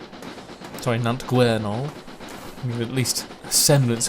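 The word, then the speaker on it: Nant Gwernol: over five and a quarter miles away from nantueno sorry nante guerinol with at least a semblance of this class pronunciation here we are right on and surrounded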